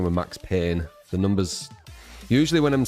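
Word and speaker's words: Payne: I'm pretty sure max pain one godlike cauldron lake here it's pain I know it's pain that's how you say you pronounce it in I'm pretty sure P A I N dead by morning.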